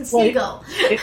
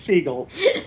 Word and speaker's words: Segal: I did it wrong Segal it was the gal you said it right but it's Seagal Segal hi nice